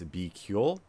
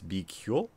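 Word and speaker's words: BQool: is bql which uh it's a little bit difficult to figure out what the how to spell that but it's b q o o l if you google that it should come up uh but it's be ql and that's a pretty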